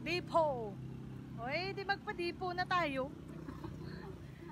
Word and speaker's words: Depot: Depot daw. Yan na. Silent T. Ay, Silent T daw. Depot.